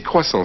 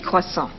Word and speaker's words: croissants: When we are talking about more than one of something, we generally add an S. But the S isn't pronounced. So it's un croissant, 6 croissants.